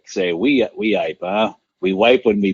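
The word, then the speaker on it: Weippe: I always thought it was Weppy. Weeyipe.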